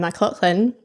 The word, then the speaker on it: McLaughlin: those tech bits, I am joined by Ronan McLaughlin.